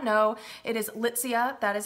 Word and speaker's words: Litsea: It is Litsea. That is how you pronounce it, not Litsea, but Litsea.